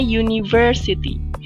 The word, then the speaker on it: university: Ini dibacanya university. Walaupun dia depannya hurufnya U, tapi dibacanya U, university.